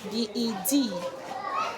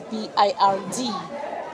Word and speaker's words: bird: You can't pronounce B E D as bed and also pronounce B I R D as bed.